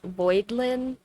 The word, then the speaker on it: Voidlin: Her actual, like, on paperwork name is Voidlin, like Voidling, but spelled like a white trash name.